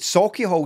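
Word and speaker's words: Sauchiehall: sake i no sake sake hall is probably the correct pronunciation but i know jaz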